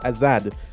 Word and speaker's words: Azard: It means it's pronounced Azad. It means freedom.